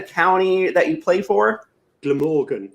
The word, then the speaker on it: Glamorgan: Glamorgan, so the G at the beginning.